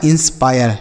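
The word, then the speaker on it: inspire: आई आर ई को pier यह लिखा है इंस्पायर ठीक है क्या लिखा है इंस्पायर तो आई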